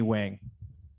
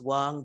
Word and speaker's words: Wang: Would like to call up Select Board Chair of Worthington, Wang. Hi, thank you for that. It's actually pronounced Wang, but nobody would know that.